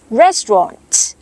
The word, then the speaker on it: restaurant: แบบ นี้ นะ คะ สำเนียง อังกฤษ เอ rest เออ อ Tron Restaurant Restaurant ส่วน สำเนียง อเมริกัน นะ คะ ออก เสียง ว่า เอ rest เออะ เถอะ เออ อun Restant Restaurant Restaurant ออก เสียง เน้น หนัก ที่ พยางค์ แรก เลย ทั้ง 2 สำเนียง ค่ะ Restaurant Restaurant หาก คุณ